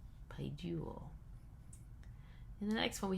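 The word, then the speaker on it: παιδεύω: And then we have the accent then will be on the second syllable, which is this diphthong u, paiduo.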